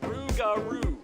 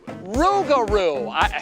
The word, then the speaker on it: Rougarou: How do you pronounce that? Rougarou. Rougarou.